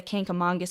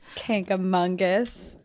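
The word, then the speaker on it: Kancamagus: New Hampshire I'm ashamed K aongus I think part of what I want to say is kangus cuz I always say that but there's no n in there there's no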